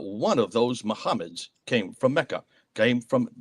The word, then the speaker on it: Muhammad: So the 4 consonant would have existed, but how do you then pronounce mim, ha, mim, dal? Muhammad.